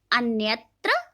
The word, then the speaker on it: अन्यत्र: अब आप देखेंगे कि अन्यत्र में न आधा प्रोनाउंस हो रहा है, उच्चारित हो रहा है, और संवर्धन में अंग की साउंड आ रही है।